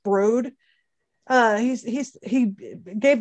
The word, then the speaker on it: Broad: is uh it's not it's spelled broad but i think it's pronounced brode uh he's he's he